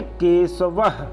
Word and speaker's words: केशवः: विसर्ग के पूर्व अकार हो तो विसर्ग का उच्चारण है जैसा होता है।